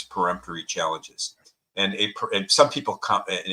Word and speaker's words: peremptory: used all of its peremptory challenges and a some people including a dear friend of mine Jim Nan in Connecticut pronounced them to say it's preempt no it's peremptory let's get that right but a peremptory challenge